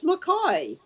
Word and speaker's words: Mackay: Mackay. Is it Mackay or McKay? It is McCoy.